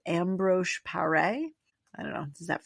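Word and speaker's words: Ambroise Paré: It was called ambro par.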